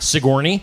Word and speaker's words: Sigourney: that wrong all right Sigourney mhm y I mean if you're not from here yeah pretty much it's like Sigourney Weaver it's like people look at it and just think of the actress yeah but it's but